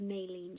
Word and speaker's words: myelin: pencil grips, those are I call it the myelin sheath, but some people call it myelin. It's spelled M-Y-E-L-I-N, so whichever way you want to pronounce it, but it's the myelin sheath.